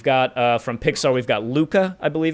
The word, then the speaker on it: Luca: We've got from Pixar, we've got Luca, I believe it's pronounced.